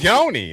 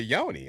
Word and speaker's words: yoni: thought about it, the yonyi. I mean, I'm sorry. The yoni. I I would have had to probably my my legs. The yoni. That's the proper way to say it.